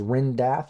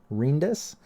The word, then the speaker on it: Rindath: And again, I know it looks like it says Rindath or Rindoth, but Rindas.